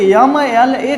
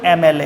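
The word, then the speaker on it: MLA: से प्रोनाउंस करते हैं, एम को यम पढ़ते हैं, तो अगर यहाँ पे यम यल ए कर दिया तब तो आर्टिकल ए लगा देंगे, लेकिन इसका सही जो प्रोनाउंसिएशन है वो एम एल ए है, एम एल ए, एम ए का साउंड प्रोड्यूस करता है, इसलिए यहाँ पे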